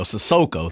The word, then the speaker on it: Sissoko: Sissoko. Thank you. I always say his name wrong.